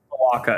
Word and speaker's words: cloaca: Cloaca. It's the same thing your cat has, cloaca. Yeah, it doesn't rhyme with Chewbacca.